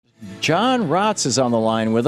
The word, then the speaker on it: Raatz: Am I pronouncing Eckart's last name right? Yeah, Eckhart Tolle is good. and your last name? Raatz.